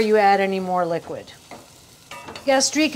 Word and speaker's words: gastrique: add any more liquid gastrique is a snoody term but it kind of sounds like that flavor you gastri gastri it's sweet and vinegary gastri it's it works phonetically but don't use it